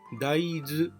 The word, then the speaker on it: 大豆: の 1 種類です大きな豆と書いて大豆と読みますちょっと豆という感じ